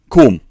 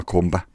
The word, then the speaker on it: comb: Silent B. Pronounce it a bit like foam, in foam rubber or something like that. Comb. Comb. Comb. Come on, Tullybo. Come on, Tullybo. Comb. Pronounce it as if it's like foam. No, it's not a comba.